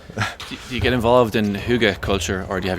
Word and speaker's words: hygge: Do you get involved in hygge culture, or do you have your own version of?